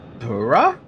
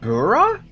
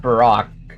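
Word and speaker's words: Burakh: Bura. That's how you pronounce it. Bura. Huh? Wow. Okay. I You know what? I just realized we're surrounded by tombstones. This entire time I thought it was pronounced Barack.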